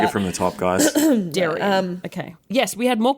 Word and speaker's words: Darian: Yeah, I say Darian. Okay. I say Darian. Darian. Almost no one... Yeah, don't worry too much about it, Jen. Almost no one pronounces it that way.